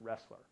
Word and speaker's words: Roesler: choose the acronym because my last name is pronounced wrestler that is a fallacy